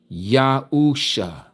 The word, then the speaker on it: Yahuusha: Yahuusha.